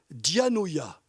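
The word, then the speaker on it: διάνοια: mot le mot intelligence qui se prononce dans le texte original diagnoia Diana Diaz est un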